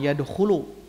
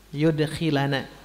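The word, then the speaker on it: يدخلنا: Bacanya gitu ya, bukan yadkhulu, yudkhilana.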